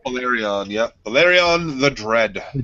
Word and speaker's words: Valyrian: So, uh, so the breath of the greatest dragon, uh, Bolyrian the Dread, is that how you pronounce it? Did I kill that name completely? I think I did. All right. Valyrian.